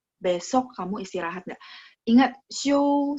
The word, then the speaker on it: 休: 明天你休息吗? Besok kamu istirahat nggak? Besok kamu istirahat nggak? Ingat, 休息, 休 kan X-I-U, bacanya X-I-O-U, ada O-U-nya, ya, ada O-nya.